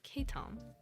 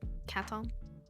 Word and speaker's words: caitom: under the same name k Tom c-a-i-t-o-m which is how you pronounce it um I've realized after having that username for a bit some people might pronounce it as like cattle and while that is